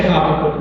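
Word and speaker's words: Habakkuk: I say Hakut. Mary said it right in Hebrew. The accents on the second syllable.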